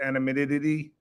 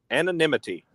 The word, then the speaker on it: anonymity: Animidity. Animid. How do you say that? Anonymity.